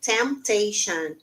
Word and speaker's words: temptation: aqui ó Temptation Ok Temptation eu não pronuncio letter Ok Sil letter Temptation e agora a